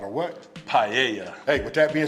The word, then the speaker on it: paella: And again, this is the right pronunciation of what? The paella.